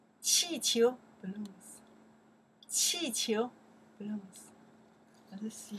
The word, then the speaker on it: 气球: 气球, okay, let's check the pinyin here, okay? Balloons. 气球, okay, fourth tone. 气, second tone. 球, 气球, balloons.